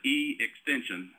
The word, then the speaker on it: eXtension: some time to look at that it is pronounced e extension um it's it's a uh uh collaborative effort